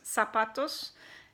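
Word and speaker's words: zapatos: z is called città and the Z sounds just like an S in English for example if you have the word choose sapatos it's filled with a Z ap atos sapatos but it's not pronounces like a zoo soon but just like it's like an SM sapatos samora Ortiz and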